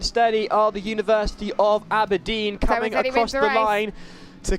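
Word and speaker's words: Aberdeen: good to note that I've managed to actually pronounce abedine properly yeah for those of you that just joined in Jo's pronounced abedine abin I've been calling it abedin for a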